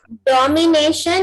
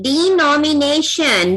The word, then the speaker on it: denomination: डोमिनेशन नहीं, डिनोमिनेशन। डोमिनेशन अलग बात हो गई।